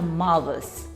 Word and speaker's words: mouths: The plural form is pronounced as a mouths.